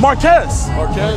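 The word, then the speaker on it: Marques: Marquez.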